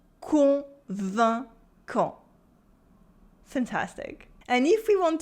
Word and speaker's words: convaincant: Try to concentrate on the nasal sounds. Convaincant. Convaincant. Convaincant.